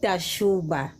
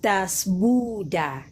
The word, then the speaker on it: Dasbuda: It's not Dashuba. It's Dasbuda. Dasbuda.